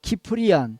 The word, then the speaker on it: 키프리안: 그때에 순교하였던 지도자는 오리겐, 또 키프리안 또는 다른 발음으로는 시프리안이라고 하죠.